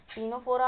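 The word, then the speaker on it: Ctenophora: और टीनो टीनोफ फोरा टीनोफोरा आप सोच रहे होंगे टी से चालू होता है नहीं बट सी साइलेंट रहता है तो उसे हम टीनोफोरा ही बोलते हैं उसे और फिर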